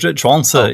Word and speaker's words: Zhuangzi: I think Zhuangzi is the way that it's typically pronounced, as if it was modern Mandarin. Although, of course, I should say, people are always embarrassed about the pronunciation of this name. But the truth is we probably have no idea really how it was actually pronounced.